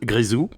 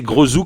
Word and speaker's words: Grézou: oui, l'anecdote, c'est que j'ai prononcé donc ton blaze n'importe comment cette semaine, toute la semaine en fait. Je pensais que ça se prononçait Grosou comme il n'y a pas d'accent, donc j'ai parlé, voilà, j'ai